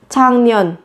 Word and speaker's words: 작년: 작년 작년 작년 năm ngoái. Các bạn chú ý với cái phát âm là thành 작년. Viết là chắc nhưng phát âm là 장.